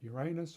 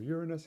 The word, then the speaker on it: Uranus: very interested in the planet Uranus or Uranus however you like to pronounce it which had been